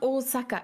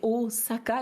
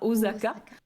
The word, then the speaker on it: Osaka: Osaka alors je précise ça se prononce bien au Saka il y a pas de Z en japonais ici donc c'est c'est au Saka et pas Osaka je me suis longtemps